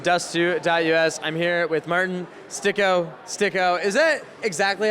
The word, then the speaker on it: Styk: I'm here with Martin STYKO. Is that exactly how it's pronounced? Because on Wikipedia, it says it's a different pronunciation than how Americans are pronouncing it. So I'm Martin Styk. Martin Styk. Yes.